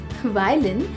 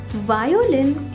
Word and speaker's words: वायलिन: वायोलिन इसका गलत उच्चारण है। इसे सही से बोलने के लिए बोलें वाय, फिर इसमें जोड़ें लिन, जोड़ते हुए बोलें वायलिन।